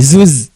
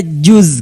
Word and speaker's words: juz: Ya mungkin pelafalannya dulu harus kita betulkan, bukan zuz. Bukan Maaf, juga maaf ya, salah kadang berarti orang saya. Sunda juz sabaraha juz. Ya. Yang betul ada juz kan?